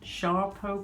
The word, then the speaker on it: Sarpo: Okay, and we've also got some of the blight resistant Sarpo, or pronounced Sharpo potatoes.